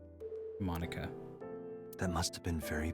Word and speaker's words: Monica: She says Monica like you would pronounce Monica like from Friends. Monica.